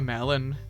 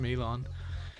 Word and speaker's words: Melon: He hates being called a melon despite his name being spelled that way. It's pronounced Milon.